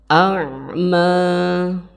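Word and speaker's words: أَعْمَى: Cara membacanya harus dalam. Karena di sini huruf ain tempat keluar hurufnya atau makhorijul hurufnya ain yaitu ada di bagian tenggorokan bagian tengah. A'ma, a'ma.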